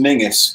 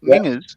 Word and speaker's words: Menzies: the name Menzies and how Z isn't a Z, really? The yo is fun. No, tell me more. What's that? Because our one of our prime ministers was Menzies.